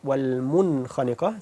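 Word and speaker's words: وَالْمُنْخَنِقَة: This means that this nun is pronounced clearly, like this word wal-munkhaniqa.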